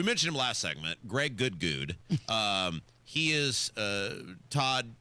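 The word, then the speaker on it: Goode: Now, we call him Good because it's spelled G O O D E is how he spells his name.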